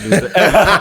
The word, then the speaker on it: Luzada: Yeah, I'm like, how do you pronounce this? Yeah, I'm like, I'm not gonna even try. It's Barry Luzada.